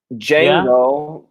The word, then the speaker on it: Django: Django. The D is mute. Exactly. Just like Django. Django. Django Unchained.